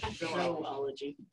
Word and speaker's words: zoology: Zoology. I pronounce it zoology. There'd have to be another O in there, but it was okay.